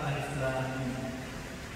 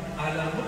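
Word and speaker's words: الم: Dan dibacanya bukan alamun, artinya penyakit, sakit.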